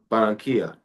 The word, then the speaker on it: Barranquilla: Barranquilla. That's how You you got it. pronounce That's it right Barranquilla.